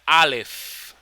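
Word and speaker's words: אלף: haya Okay entonces escuchen Alf se pronuncia la f al final la letra alef alef alef está formada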